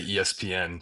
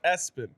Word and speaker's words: ESPN: Um, so it can go either way, but you know, it's in all caps, so I say ESPN.